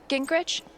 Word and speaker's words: Gingrich: Steph, Gingrich? Is that how you say it? Yeah, that's right.